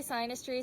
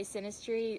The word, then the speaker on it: synastry: yeah some people say sinus tree some people say synastry I know synastry is the right way to say it but anyways yeah so